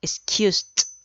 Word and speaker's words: excused: Recuerden que la pronunciación de un verbo en pasado, sea cual sea su categoría, se elimina la ed y se reemplaza por una t al final.